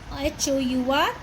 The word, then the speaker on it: hour: First, how many minutes are there in HOUR? Again, the word start with H, but pronunciation is hour.